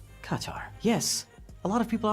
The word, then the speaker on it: Qatar: So, just to recap, the official pronunciation of my country is Qatar. Qatar. Qatar. So go ahead and close your throat a little bit. Make sure you say ta instead of ta, and you get Qatar.